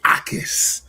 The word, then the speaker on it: Ikard: Gabe Ikard. Ikard, the J is silent.